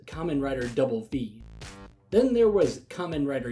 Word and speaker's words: Kamen Rider VV: Another name was Kamen Rider V, from the Roman numeral 5, and doubling down with yet another V, except being spoken as Kamen Rider Double V.